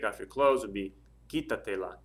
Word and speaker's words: quítatela: And then the last one, quitarse la ropa, so take off your clothes would be quítatela, quítatela. Stress over the I on the quita, so that's where you put your accent mark.